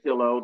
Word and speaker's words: Kilo: So Sarah Kilo, that rhymes with pillow, and Yeah.